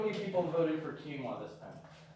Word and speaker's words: quinoa: How many people voted for quinoa this time? It's called quinoa.